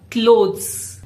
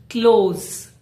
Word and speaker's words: clothes: This is tricky. It is not clothes. It sounds like clothes.